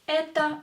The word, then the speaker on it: Это: And the next sentence is Это мой брат. Это мой брат. Брат. Это мой брат. Here E is stressed, so O will be pronounced as A.